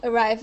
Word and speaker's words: arrived: Okay, so we won't pronounce an id sound there.